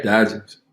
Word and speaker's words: Diogenes: And, when I look at the name, how you pronounce it again? Diogenes? Yeah, Diogenes.